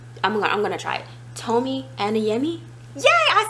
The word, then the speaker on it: Tomi Adeyemi: Tomi Adeyemi.